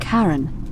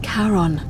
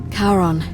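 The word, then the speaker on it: Charon: name you heard wasn't karen it was c-h-a-r-o-n as in caron the ferryman of the dead karon who in exchange for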